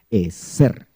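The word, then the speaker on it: עֵזֶר: es ser, porque la Z nosotros los que no somos españoles la pronunciamos más fuerte. Es ser. Si yo fuera español tendría que decir Eer, pero yo no soy español, yo soy puro chapín. Eser, así con énfasis.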